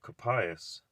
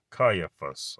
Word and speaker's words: Caiaphas: Capias, I did.